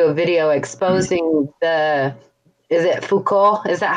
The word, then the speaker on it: Foucault: Which is, fuck all, right? Foucault. Fuck all.